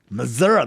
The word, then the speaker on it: Missouri: Missouri, that's how you say it.